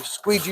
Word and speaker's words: squeegee: that out my squeegee squeegee rhymes with Luigi and Luigi is a